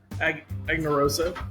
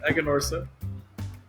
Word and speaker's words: Aganorsa: you're right it's now I do it anarosa it's Egon Ora you just do it